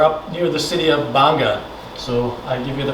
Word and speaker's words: Gbarnga: and we are up near the city of banga so i give you the pronunciation everybody wants to say gabaranga what is banga uh so it was uh a country started